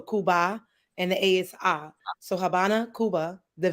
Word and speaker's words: Habana: and the ASI so Habana Cuba the V is silent which is a b I'm sorry the V makes the B sound so Habana Cuba so